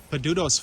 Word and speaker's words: Padudusan: you say the name of the falls peduto's false okay thank you salaam i don't get